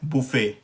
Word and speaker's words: buffet: है, और वो है बुफ़े। अच्छा, अमेरिकन इंग्लिश में या अमेरिकन प्रोनाउंसिएशन में ये है बफ़े।